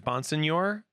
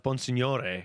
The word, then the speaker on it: Bonsignore: When I was growing up, I would say it was Bonsignore. And then after doing the Try Guys podcast, they would call me Bonsignore, which is how it is actually pronounced.